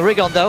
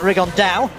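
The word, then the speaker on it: Rigondeaux: 3 weeks and he's T's talked about fighting Rondo or as he's correctly pronounced with the Spanish ACC rig on Dow and two absolute Geniuses but it could also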